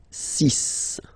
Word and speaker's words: six: okay so it's not six it's sis all right then here